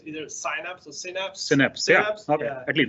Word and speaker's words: Synapse: Synapse. Yeah. Okay. Yeah. At least that's how they pronounce it. Synapse.